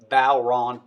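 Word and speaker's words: bodhrán: o d h r a n but it's pronounced balron b-o-w-r-a-w-n okay so that's the phonic so the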